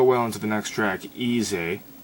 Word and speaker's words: Eez-eh: But it does flow well into the next track, Easy. I think that's how you're supposed to pronounce it, because it's spelt weird. It's EEZ-EH, so who knows.